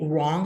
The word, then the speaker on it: wrong: youth are wrong okay wrong has a Latin a wrong wrong wrong okay wrong uh so but basically that's it just the the W is silent so we have the